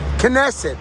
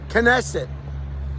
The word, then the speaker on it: Knesset: Knesset, that's how you say it. Knesset.